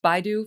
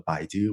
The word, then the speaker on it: Baidu: teams at google and is it is it pronounced baidu forgive me for not knowing oh yes i i started led the google brain team i also ran ai for baidu which was launched with search engine uh company